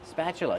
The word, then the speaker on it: spatula: we pronounce spatula spatula use a short a sound like black cat spa plus the sound like chicken that's right the t is pronounced with the chch sound spat spatula then use the clo sound uh like cup and up spatula not spatula spatula